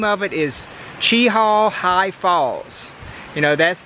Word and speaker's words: Cheaha: and then it's actually see that's the word Chiho that's the way it's spelled Chiho and this is Chi Hall mountain or Chi Hall wilderness see the Chi